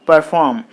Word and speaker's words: perform: this is a web so you put the stress mark on the second syllable then it will be perform like that perform okay so in